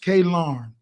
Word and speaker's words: Kellen Photographic: Kellen Photographic, pronounced K Larn.